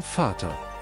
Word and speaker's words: Vater: V's have an F sound? The German V is pronounced more like an F. Yeah, I'm noticing, yeah. Okay. Ein Vater.